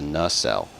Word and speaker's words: nacelle: It's a nacelle, just like that, nacelle. I know it's phonetically spelled N-A-C-A, so you think that the first vowel would be long and the second vowel would be short, but that is not the way it is, believe it or not.